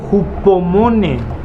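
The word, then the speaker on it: ὑπομονή: Viene del griego hupomone. Sí, así es. Hupomone. Que viene del griego hupomeno. ¿Así se escribe?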